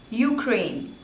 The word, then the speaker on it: Ukraine: Uganda Uganda next is Ukraine Ukraine Ukraine there are two slavors and the stress is on the second one you crane so stress is on crane Ukraine Ukraine Ukraine Ukraine next is